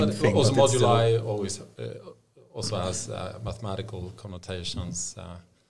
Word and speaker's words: Modulai: called, I'm not sure if I'm going to pronounce it correctly, Module AI. Or no, Modulai. Modulai.